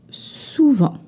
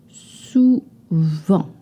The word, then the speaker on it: souvent: Often, souvent. Souvent. It is spelled with a T. You do not pronounce this T.